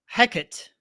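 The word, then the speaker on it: Hecate: Hecat.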